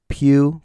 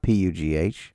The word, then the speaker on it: Pew: Pew. Pew. Okay. Had to spell it for you. Not P U G.